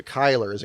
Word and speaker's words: Kyler: oilers there you go kyler so kylers and kyler murray is a correct pronunciation okay kyler interesting well